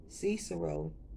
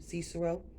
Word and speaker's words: Cicero: 2 000 years ago cesaro for that's how you say his name cicero the roman politician and